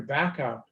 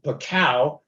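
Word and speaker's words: Bacow: of the university larry back out although of course big bird being big bird pronounced his name bacau and they had to uh to spend a while getting that straight um but uh eventually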